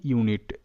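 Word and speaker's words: unit: ইউ এন আই টি ইউ নিট তো এখানে ইউ এর উচ্চারণটা ইউ আর এন আই টি নিট তাহলে ইউ নিট কেন ইউ হিসেবে উচ্চারিত কারণ কি এখানে ভি সিভি রুল কাজ করছে দেখো ভি তে ভাওয়েল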